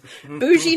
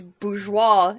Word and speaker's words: bourgeois: bourgeois number two 98 bougie 98 there you go bose bose 21. okay well that's not how it's pronounced it's a french word it's bourgeois and it's not rich people